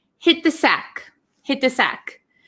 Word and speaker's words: hit the sack: So if you notice, there is a T here and followed by a TH. So when we pronounce it really quickly, hit the sack. We don't really say hit the sack. Hit the sack, hit the sack. So this T almost becomes silent and it links with this TH.